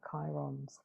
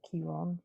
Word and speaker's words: Chiron: There is a dwarf planet called Chariklo, who is the wounded healer Chiron's wife, or Chiron rather, whichever way you want to pronounce his name.